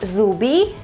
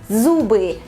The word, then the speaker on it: зубы: I believe it's not that hard to pronounce this word, however, you should be really attentive with the last sound. It's not зубы, it's зубы, зубы.